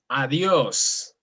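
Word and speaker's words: adiós: You emphasize, pause and emphasize. Correct. Perfect. Like for example, adios.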